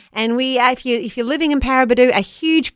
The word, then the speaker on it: Paraburdoo: And if you're waking up in Paraburdoo, how cool are Western Australian town names? That is a very cool name. Isn't it? Paraburdoo. Pretty cool. Kind of rhymes with Kakadu.